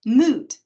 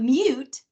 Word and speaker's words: moot: So that includes words like cacophony or moot or utmost, not upmost, and not mute, and not cacophony.